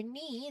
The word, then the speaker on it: knee: For knee, the K is silent, and we just hear the N sound.